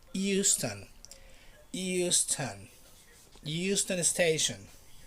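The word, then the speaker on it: Euston: not like in the united states it's not houston texas no it's not houston because it doesn't have an age it's just the e right so it's houston houston houston station how we don't have to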